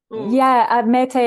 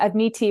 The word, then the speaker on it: Admete: And with Atalanta and, is it Admete? Is that how you say it? Admete actually means Greek, but Admiti would be probably how we would anglicize it.